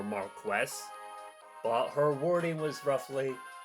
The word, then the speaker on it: Marcus: Well, she knows the correct pronunciation of Marcus, which is more Marquess.